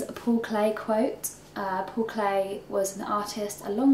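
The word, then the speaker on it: Paul Klee: Paul clay quote uh Paul clay was an artist a long long time ago I think you might have he's pronounced his name Paul clay I often say Paul clay Paul clay um he's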